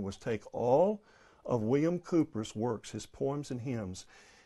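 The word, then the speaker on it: Cowper: and the hymns of william cooper or calper and so i know the english pronounce it cooper so i'm trying to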